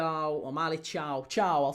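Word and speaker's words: Thiaw: But yeah, 3-0 down, Miley Tia or Miley Chow. Chiao, I'll say Chiao because apparently that's how you pronounce it.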